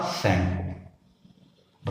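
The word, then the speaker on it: Tsangpo: सबसे पहले ट्रिब्यूटरी है राका सैंगपो। राका, और मैंने आपको बोला है सैंगपो में हमेशा टी जो होता है आपका वो साइलेंट होता है, इस टी को नहीं पढ़ते आप, तो केवल बाद का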